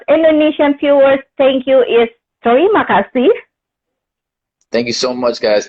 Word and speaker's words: terima kasih: But I want you say terima kasih. It means thank you. Oh, how do you say it again? Terima kasih.